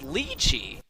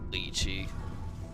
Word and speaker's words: lei: get out of here like people who pronounce Lei versus Le it's lei who the says lii what no no no no